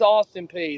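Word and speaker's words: Austin Peay: for sure if it's if it's pronounced or Austin P it's all P okay some people say pay I wasn't sure no it's Austin P the governors see Virginia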